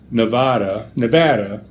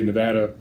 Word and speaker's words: Nevada: From what I've learned from the locals, is that's the delineation between the two things. Is locals say Nevada, anybody else from out of town, elsewhere, say Nevada.